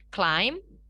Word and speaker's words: climb: Oke, di sini pada kata-kata di bawah ini, huruf B yang ada di akhir katanya harus dihilangkan. Dalam artian nggak perlu kita ucapkan, ya. Jadi kita ucapkan kata-kata ini seperti berikut. Climb, come, calm, lamb, crumb, and dumb.